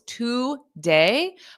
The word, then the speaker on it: today: element of syllable stress we have two syllables to day but the first syllable is pronounced as a t today T So repeat after me because native speakers do not say today today I'm going today I am we don't say that because that's not the syllable stress pattern in English the first sound is unstressed in this word so it sounds like